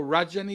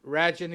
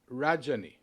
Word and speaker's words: Rajani: to pronounce my name imagine if rhyme the first part reminds with fudge rhymes with fudge so rajni fudgy so fudge how's that so so rajani is your name yes not raging as americans might say no rajani yeah okay okay so